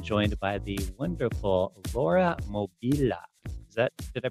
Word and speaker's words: Mobilia: pronounce that Mia it's mobilia mobilia mobilia exactly exactly yes yes the at the at the end yeah that sounds that has kind of an Italian ring when I when I